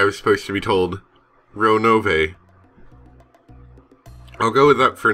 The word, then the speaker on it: Ronove: Ronove. I'll go with that for now. I remember just being told not to reduce the E to a silent letter.